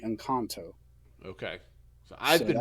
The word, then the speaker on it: Encanto: new disney animation movie is it an encounter or a cantu are you mispronouncing that or am i mispronouncing that the way they said it in the movie was definitely in kanto okay i've been wrong